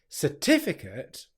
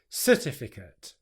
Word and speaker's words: certificate: The mistake I often hear with this word is that the stress is put onto the first syllable. So instead of getting certificate, what I hear is certificate.